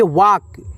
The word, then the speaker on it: walk: WALK, इसे हम पढ़ेंगे वाक। यहाँ पे L जो है दोस्तों A के बाद वो साइलेंट है, वाक।